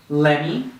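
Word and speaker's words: let me: so let's just practice one more time gimme lemmy hafta hasta usta okay so if you practice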